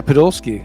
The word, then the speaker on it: Podolsky: Is that how you pronounce it first? Yeah, Podolsky. Podolsky.